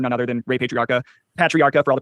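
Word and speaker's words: Patriarca: Uh as you know based on my research it looks like he was the driver for none other than Ray Patriarcha Patriarcha for all the pronunciation people senior uh had connections with Joseph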